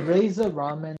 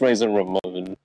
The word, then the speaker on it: Razor Ramon: was a wrestler okay razer ramen is definitely a it's pronounced razor ramon yeah he just doesn't